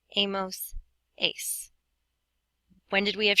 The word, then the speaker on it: hemos: How do you pronounce H's in Spanish? If you said you don't, you are correct. So this would be pronounced a, hemos, and habéis.